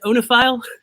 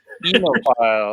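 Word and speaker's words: oenophile: Is it pronounced onophile? Enophile. Enophile. The neighbors an enophile.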